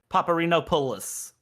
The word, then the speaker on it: Paparinopoulos: And I do want to pronounce Anthony's Paparinopoulos one time. So that is the correct way to pronounce that.